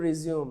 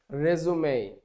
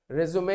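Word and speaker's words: résumé: হয়ে যাবে কিন্তু যখন এটা নাউন তখন এর উচ্চারণ কিন্তু রিজিউম না তখন এর উচ্চারণ হচ্ছে রেজুমে রেজুমে শব্দের অর্থ হচ্ছে জীবন বৃত্তান্ত এবং এটা কেবলমাত্র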